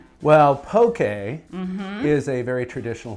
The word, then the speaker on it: poke: if you call it pokey okay okay rhymes with okay so okay and okay